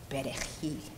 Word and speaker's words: perejil: It's a funny word, Pasli, Perejil. They used that word to test us because those who could not pronounce the R using the tip of their tongue, así, if they could